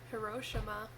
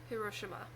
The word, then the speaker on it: Hiroshima: it right so but apparently there is no emphasized syllable if you're pronouncing it correctly so it's Hiroshima I don't know I